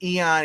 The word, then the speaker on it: Ian: Ian is normally pronounced Eon, except for the weird actor from Beverly Hills 90210.